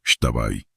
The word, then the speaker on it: Xtabay: Este es el trabajo del mal, el Extabay, pronunciado Shtabay.